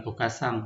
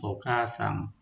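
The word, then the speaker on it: おかあさん: doble misalnya ini okasang jadi bukan okasang tapi bacanya okasang itu yang betulnya bukan juga kita baca ok asang itu salah Kemudian contoh berikutnya obasang bukan obasang tapi obasang.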